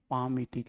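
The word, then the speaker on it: palmitic: पामीटिक acid. L को silent रखते हैं, पामीटिक एसिड।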